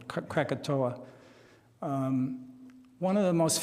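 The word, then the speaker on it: Krakatoa: is called Cato C it's pronounced different ways I'll pronounce it the American catoa um one of the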